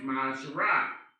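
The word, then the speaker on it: מעשר: Means tenth in the Hebrew, and it's pronounced Ma'asharah.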